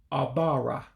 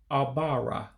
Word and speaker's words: Ọbara: Blood, the life of it all, would be pronounced as Ọbara. Ọbara, blood.